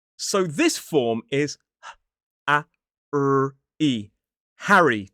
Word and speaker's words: Harry: Harry. 2 syllables, stress on the first. Harry.